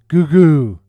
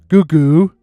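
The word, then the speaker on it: Gougou: Goooo. Yeah, you you heard that right. Goooo. Go U G O U.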